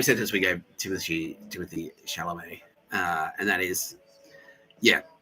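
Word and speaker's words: Chalamet: I've been saying Shamallay and it's actually Shalamé. Yeah. Okay. Yeah. Um it's the same sentence we gave Timothy Timothy Shalamé.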